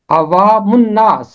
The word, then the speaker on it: عوام الناس: ساتھ ملے گا من۔ پہلا حصہ علیحدہ رہ جائے گا، اوا، یہ پہلا حصہ ہے، دوسرا حصہ بنے گا من، اور تیسرا حصہ ہے ناس، عوام الناس، عوام الناس۔ یہ ہے اس